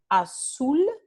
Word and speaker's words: azul: Ejemplo aquí, azul se escribe con la letra Z en la ortografía convencional, pero en la transcripción fonémica se transcribe con el fonema S.